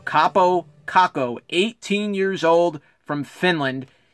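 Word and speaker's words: Kaapo Kakko: that's not some mispronunciation that's his name capo kako 18 years old from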